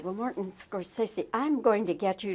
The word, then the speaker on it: Scorsese: Well, Morton Scorsesi, I'm going to get you to pronounce your name. Every star has pronounced it differently. I know. Scorsesei. Scorsesi.